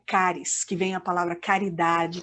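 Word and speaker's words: χάρις: Estevão cheio de graça a palavra graça em grego se pronuncia cáries que venha a palavra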